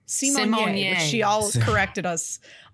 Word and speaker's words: Symoné: Although I did just mispronounce her last name. Symoné.